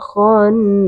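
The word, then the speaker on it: خناس: minyarril waswasil khannas khonas di sini juga ketemu dengan nun bertasydid atau bacaan gunah maka jangan lupa untuk di didengungkan terlebih dahulu Jadi cara membacanya adalah dengan didengungkan terlebih dahulu.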